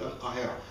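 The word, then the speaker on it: القاهرة: Do we call it Cairo in Arabic? No. What do we call it? Al-Qahira.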